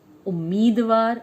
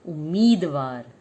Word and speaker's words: उम्मीदवार: उम्मीदवार, जैसे हमने उच्चारण में अध च प्रयोग किया था, वैसे ही उम्मीदवार में अध म का प्रयोग शामिल है। चलिए एक बार फिर से मिलके बोलते हैं, उम्मीदवार।